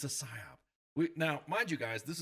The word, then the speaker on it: PSYOP: So anyways, Ken, the IO guy, we're here to talk Psyop. Psyop, not PSYOPS. Psyop.